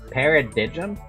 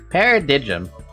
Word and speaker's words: paradigm: Paridigum. How do you pronounce that word? I'm gonna actually like look that up now. Paradigm. Oh, it's paradigm.